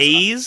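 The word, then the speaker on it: Bleis: up a couple times Blaze like a fireplace Blaze that's a song find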